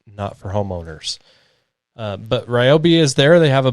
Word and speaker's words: Ryobi: I believe the company pronounces it Ryobi, at least they were pretty adamant about it when I did some videos for them a couple years ago. Personally, I think they should just go with Ryobi because literally everyone pronounces it that way.